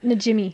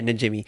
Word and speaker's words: Najimy: Najimy. Yeah, Najimy.